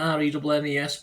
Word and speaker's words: Rennes: was nurtured at Rennes, is it how he's pronounced that? Rennes, by coach Bruno Genesio, who helped develop Real's Ferland Mendy, of course, under Genesio at Le Havre.